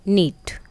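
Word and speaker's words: knit: नीट, के silent है।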